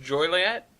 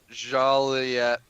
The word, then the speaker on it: Joliet: giant rocket is returning it's not it's not pronounced Juliet I don't know I've never actually known how to pronounce it pronounced Joliette rocket how to pronounce u.s.